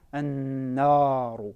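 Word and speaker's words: النار: Il faut veiller à bien la prononcer de façon amincie, an-naru et non an-naru, an-nar, mais bien an-naru.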